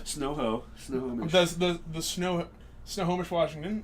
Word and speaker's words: Snohomish: the snow Snohomish Washington if you ever have a problem thinking about how to how to pronounce it just think about like a home that's covered in snow but only like halfway there so it's no home ish the snow home that's how I've always described it as I was